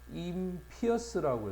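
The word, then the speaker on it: impious: 임피어스라고 해서 발음이 파이어스에서 피어스로 바뀝니다. 요런 것도 좀 잘 봐야 돼.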